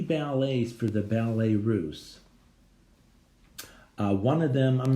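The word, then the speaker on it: Russes: I'm making it bigger for you, for the Ballet Russe. R-U-S-S-E-S, pronounced Russe, the Ballet Russe.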